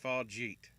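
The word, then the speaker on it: Fargeat: Although this is where we actually found out it's pronounced Farjeet, apparently.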